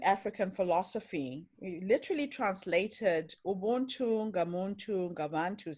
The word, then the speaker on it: Ubuntu: Ubuntu. It's kind of like the magic of that. And can you talk a little bit about that? So Ubuntu is an ancient African philosophy. We literally translated Ubuntu, Ngamuntu, Ngabantu says, a person is only a